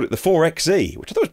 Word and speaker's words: 4xe: If you see 4X4 on a page, how do you say out loud? 4x4. So how do you say this out loud? 4xE.